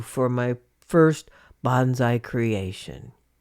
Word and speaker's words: bonsai: work on my new bonsai interest, pruning a U for my first bonsai creation. Actually, I'm mispronouncing bonsai. supposed to be bonsai, but I think everybody gets what I'm talking about.